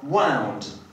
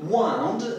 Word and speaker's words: wound: Weźmy sobie przykład słowa wound. Wound, jeżeli jest używane jako rzeczownik, będzie znaczyło rana. Jeżeli natomiast używamy go jako czasownika, czyli formy przeszłej od wind, nakręcać albo owijać, wówczas wymawiamy tą formę czasu przeszłego jako wound.